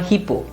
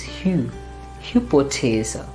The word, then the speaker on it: Hypothese: Here, because of our English, we might tend to pronounce it as hypo, hypothese, or hippo. No, it's hypothese. P is also pronounced as, like when we have to exhale, so we say hypothese, and the th is